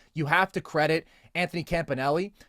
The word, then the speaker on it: Campanelli: And I do think you have to credit Anthony Campanelli, not the authentic Italian pronunciation, by the way, of that last name, but we'll allow it. I guess it's the Americanization, and that's what he wants to go with.